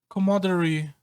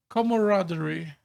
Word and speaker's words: camaraderie: How do how do I pronounce this word? Commodery with my friends.